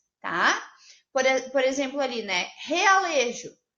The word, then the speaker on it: realejo: Realejo. Então, ó, realejo, né? Parece que o R tem um som forte.